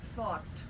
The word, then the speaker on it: thought: oh two different things the word is thought thought so it's a short o thought another one this one